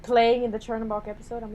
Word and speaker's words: Chernobog: Chernobog? yeah. Chernobog, yeah. Chernobog gave me nightmares. And I'm just disappointed that they didn't have like the Night on the Bald Mountain. Yeah. Like playing in the Chernobog episode.